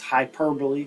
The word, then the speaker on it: hyperbole: Okay, next word, it looks like hyperbole, but it's pronounced hyperbole, kind of similar in pronunciation to simile.